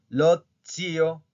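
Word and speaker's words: ozio: Recuerden cómo se pronuncia la Z, ¿ok? Tiene dos formas de pronunciación. En este caso se pronuncia como si fuera, como si estuviera una D al principio. Lotzio, litzi, ¿ok?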